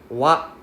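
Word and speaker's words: は: Okay, it's pronounced as wa. We only use it when it's ha. It is only when it is inside a word. Otherwise, when it's by itself, we read it as wa. W-A.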